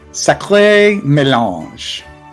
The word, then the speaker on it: Sacré mélange: Sacré mélange. Sacré mélange. Don't hesitate to pronounce the E.